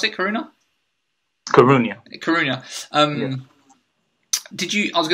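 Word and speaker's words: Coruña: Is that how you pronounce it? Coruna.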